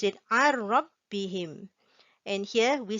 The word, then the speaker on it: عن ربهم: We do not pronounce it as عن ربهم. We silent the nun sound, the n sound. We pronounce it عن ربهم.